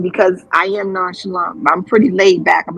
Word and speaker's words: Nonchalant: Not nonchalant. Now a viewer asked me pronouncing your name, chalant or chalant? Nonchalant, just like the word.